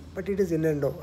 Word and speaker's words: innuendo: Now, normally we pronounce it as invendo, but it is innuendo, right?